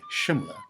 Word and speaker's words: Shimla: incarnation of The Fearless Kali and also why Shimla is the correct pronunciation when the British took over in 1817